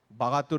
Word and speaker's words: Baghatur: Baghatur is how you pronounce it in Mongolian, from which you get the Persian word Bahadur.